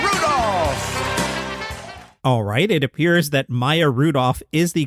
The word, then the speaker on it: Maya Rudolph: gentlemen and my Rudolph alright it appears that Maya Rudolph is the correct pronunciation of her name now let's listen to